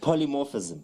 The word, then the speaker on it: Polymorphism: Polymorphism. Yeah. Am I even pronouncing it right? Yeah, that's correct. Polymorphism.